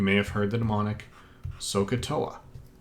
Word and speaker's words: SOHCAHTOA: have heard the demonic sohcahtoa eat OA is mispronounced deliberately to remember that there's an a there because the sign of